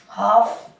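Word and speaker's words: half: और देखें हाफ, हाफ क्या बोलते हैं इसको? हाफ, आधा। एफ के पहले एल आ रहा है तो एल यहाँ पर साइलेंट रहेगा हाफ में।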